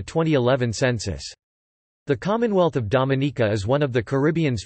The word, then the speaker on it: Dominica: Its name is pronounced with emphasis on the third syllable, related to its French name of Dominique. Dominica has been nicknamed the Nature Isle of the Caribbean for its natural environment.